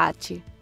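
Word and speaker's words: 八: al kanji che rappresenta il numero 8, che in giapponese si pronuncia Hachi.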